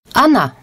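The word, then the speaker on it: она: 読むのですが彼女の場合は ana と後のあーにアクセントあるために後藤の桜がアンと呼ばれるのですねそういう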